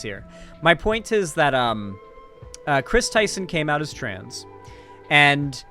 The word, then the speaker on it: Kris Tyson: So the person in question is Chris Tyson. This is both, basically the name's pronunciation hasn't changed, but the spelling has.